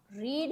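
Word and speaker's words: read: अब यहां पर बहुत सारे लोगों को कंफ्यूजन होता है कि यहां पर स्पेलिंग तो रीड ही है। स्पेलिंग तो रीड का ही है लेकिन रेड उसको प्रोनाउंस कैसे करते हैं?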